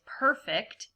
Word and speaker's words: perfect: you have perform perfect so the other way you can pronounce this word is perfect with the with for this word reading fluency try to use the words as a verb so like if you were to perfect something that's an action and